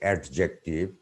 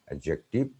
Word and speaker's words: adjective: Number 6, D is silent before J, adjective, but many Bengali speaking people say adjective. D is not pronounced, adjective, adjacent, adjust, adjourn, adjudge, adjudicate, or adjure.